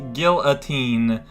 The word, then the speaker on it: guillotine: ever heard it as guillotine which I guess is kind of partway between your French pronunciation and your English pronunciation G in ah yeah